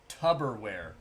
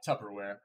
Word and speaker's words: Tupperware: lot of people think that uh it's actually pronounced tubberware because it's like a tub but it's not it's it's tupper is it but i think it's tu yeah tupperware yep what is it looks like it looks